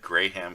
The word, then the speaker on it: Graham: This starts way Salmon, back but- when he said Graham crackers. Oh Right. my Yeah. god. He pronounces all the letters. Graham crackers. Yeah. Graham. It is Graham.